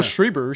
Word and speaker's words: Schreiber: of American Gods so shout out to Pablo's rider because I really wanted to I'm saying his name wrong Pablo Schreiber schreiber because I really do feel like he